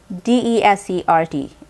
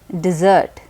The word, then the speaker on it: desert: it's spelled the same d-e-s-e-r-t it is pronounced as desert when it is a noun and when it is a verb it's pronounced as dessert there's also a very